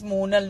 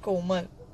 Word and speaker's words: Monal: Vinay Srivastra, my name is Monal, not Komal.